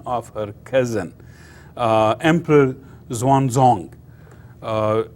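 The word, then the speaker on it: Xuanzong: her cousin uh Emperor Zan zong uh X is pronounced like TS Swan or Zang zon so not X1 you know the the pronounced X as like TS swong on and so he ruled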